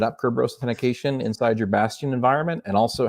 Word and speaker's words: Bastion: It has to be pronounced a certain way. Otherwise, it sounds like another word. Just got to be careful about that. It's Azure Bastion.